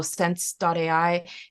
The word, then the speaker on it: sens.ai: It's the company's name is spelled sens.ai. So sense.ai.